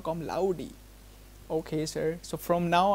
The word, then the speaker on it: Com Laude: wrong my whole life I was saying osama kam lord it's laudi osama kam laudi okay sir so from now I'm going to say osama kam laudi all right Let's go.